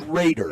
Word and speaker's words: Rader: That was Rader. Pronounced Raider. It is Raider.